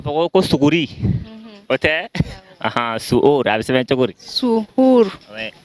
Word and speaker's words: suhour: Le mot, c'est suhour.